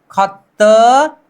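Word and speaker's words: 걷다: अब द और द को मिला लीजिए, द और द को मिलाकर उच्चारण कर दीजिए तो खत त प्लस आ ता, खत्ता।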